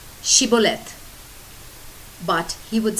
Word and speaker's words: Shibboleth: said no they would tell him to say Shibboleth but he would say Sibyl it because he could not pronounce it correctly then they would grab him